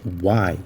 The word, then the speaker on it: Y: E talvez você observou que a pronúncia do Y ela é bem diferente da pronúncia em português, mas é bem parecido com a interjeição ou indagações que os mineiros fazem. Why? É exatamente essa a pronúncia e é a mesma pronúncia do porquê.